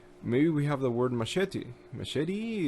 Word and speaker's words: machete: Machete. And if you speak Spanish, for example, you have the advantage because you know the correct pronunciation. It's not machete, it's machete in Spanish.